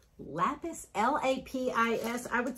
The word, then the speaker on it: Lapis: How do you pronounce that? Too much. Right there. Lapis? Lapis, L-A-P-I-S.